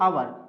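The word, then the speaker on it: hour: तो लिखा है एच से, लिखा है ये आवर। तो लिखा तो एच है लेकिन एच इसमें साइलेंट होता है और पढ़ा जाता है आवर।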